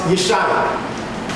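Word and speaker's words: ישוע: And in the Hebrew, that is pronounced Yeshua.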